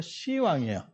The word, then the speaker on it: 시왕: 10왕인데 그냥 발음이 탈락되면서 시왕이에요.